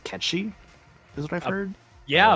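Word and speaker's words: Cait Sith: got to be like Kate Sith related huh which apparently is actually pronounced catchy is what I've heard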